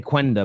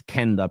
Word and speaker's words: Quenda: I keep wanting to say Quenda, but I've heard it's Kenda, pronounced like K, and a striker in first this summer.